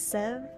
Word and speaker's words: Sev: Their name is, it's a bad pronunciation. My bad, my bad. It's Sev.